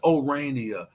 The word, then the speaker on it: Orania: It's ORANIA. That's the pronunciation.